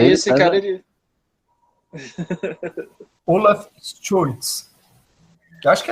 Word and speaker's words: Scholz: a pessoa que lidera aí o SPD nessas eleições, Olaf Scholz, é uma pessoa aí praticamente de extrema direita dentro do SPD.